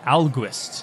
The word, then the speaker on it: Alguist: Alguist, not August.